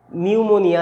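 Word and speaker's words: pneumonia: করা হয়, যার জন্য নিউমোনিয়া, এটার পিটাকে মিউট করে দেওয়া হচ্ছে, এইরকম ব্যাপারগুলো চলে আসে, ঠিক আছে?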